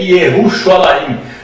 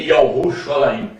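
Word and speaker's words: ירושלים: pronunciada pela palavra ie Portanto o nome de Jerusalém no hebraico moderno é ieru alaim no hebraico arca que é i ruxo alaim Amado falamos do nome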